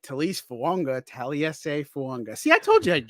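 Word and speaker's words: Taliese Fuaga: Taliesin Fuanga. Yep. Taliesin Fuanga. That's how you pronounce it. It's Taliesin Fuanga. It's like there's a silent N that doesn't actually belong there.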